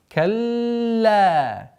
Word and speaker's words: كلا: Сперва удваиваем лям. Калла.